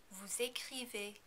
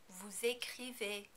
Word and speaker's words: vous écrivez: In the vous form, you also need to pronounce the final S because écrivez begins with a vowel. Also, remember that the EZ combination is pronounced as A. Vous écrivez.